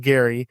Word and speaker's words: Gerry: So, his name was Elbridge Garry. Um pronounced Gary.